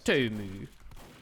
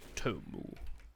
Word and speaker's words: Tomu: Tomu. Yeah. Tomu. Tomu. I think Tomu is the German, the European pronunciation.